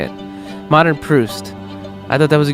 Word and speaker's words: Proust: Modern Proust.